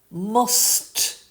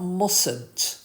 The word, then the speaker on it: mustn't: And here, if you look at how it's spelt as well, mustn't. Yeah, not mustn't. There's no T in there.